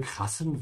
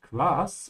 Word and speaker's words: krass: Wow, sieh nur diese krassen Wolken. Wow, look at these, not grass, it's cool, yeah.